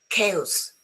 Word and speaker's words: chaos: There are some words in English which are written with a CH, but they are pronounced K, as in chemist, as in choir, psychiatry, ache, stomach, chaos, chasm.